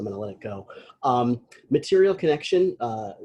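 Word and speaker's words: Material ConneXion: Material Connection, it's spelled strangely, CONNEXION.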